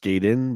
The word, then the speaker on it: Gaiden: one word yeah and it's pronounced Gayden by the way well